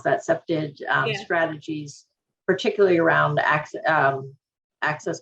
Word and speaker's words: septage: um um accepted said the right way to pronounce that septage strategies particularly around um access control and um